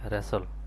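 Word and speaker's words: wrestle: এখানেও ডবলিউর উচ্চারণ আসবে না। এখানে হবে রেসল।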